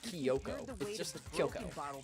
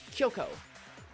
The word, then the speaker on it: Kyoko: Kiyoko. There's no eye. One of the unbroken bottles. It's not Kyoto. It's not Tokyo. It's Kyoko.